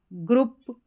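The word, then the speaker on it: group: आउ हाउस, आउ young, a ग्रुप। यहां पर ग्रुप में कौन सा साउंड आ गया? ये वाला ठीक है उ वाला यहां है सोल क्या है सोल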